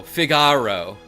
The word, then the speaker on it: Figaro: Aero, Figaro.